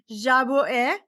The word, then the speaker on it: Jabouin: I have Priscilla, and I'm going to try to say her last name without messing up, Jabouin.